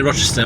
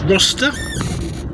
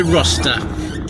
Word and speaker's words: Rocester: Boston to go to I keep say Rochester, but it's not that is it? It's probably let me say I can pronounce that. If if you know how to pronounce the following place, R O C E S T E R. Maybe it's Roster. That would make a bit more sense based on a similar spelled places.